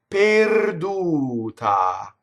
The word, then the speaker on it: perduta: That's wrong. It doesn't rhyme with pear. It's pay, like to pay somebody, right? Per, perduta.